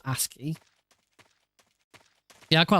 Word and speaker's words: ASCII: ASCII, that's how it's pronounced. ASCII.